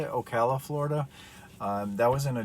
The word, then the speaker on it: Ocala: I think that's how you say it, Ocala, Florida.